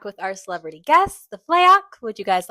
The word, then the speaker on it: Fleok: We are back with our celebrity guests, the Fleok.